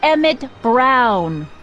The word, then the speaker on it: Emmett Brown: That's Emmett Brown. Rhymes with clown, which I'm beginning to think you are.